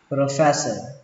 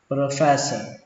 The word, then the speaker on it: professor: Các bạn cứ tưởng tượng ở đây có một âm sờ thôi, phe cho đến sờ luôn, professor professor.